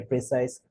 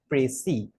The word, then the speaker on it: précis: Many people pronounce this as précis. Many people pronounce this as precise, while many students also pronounce this as precise. So, whatever is the pronunciation, the accepted form of pronunciation is précis.